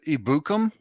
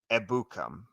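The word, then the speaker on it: Ebukam: what is it Samson ibukum so it is the emphasis is on the first first two syllables in a maca ebukum yeah you gotta you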